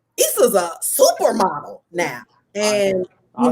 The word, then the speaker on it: Isa: How did you find, am I saying it right, Issa?